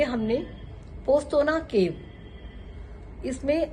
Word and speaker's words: Postojna: और last day हमने पोस्तोना केव, इसमें पोस्तोना में जब हम पढ़ते हैं तो उसमें जे आता है, जो कि साइलेंट होता है।